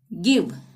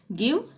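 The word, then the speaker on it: give: गिव, gate, girl, चाहे आई आ रहा हो चाहे ई आ रहा हो, यहाँ पे ग का ही उच्चारण होगा।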